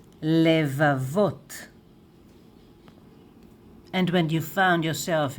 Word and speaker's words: לבבות: And plural, though it is vav and taf here, it is masculine, plural, levavot, levavot, levavot, lev, levavot.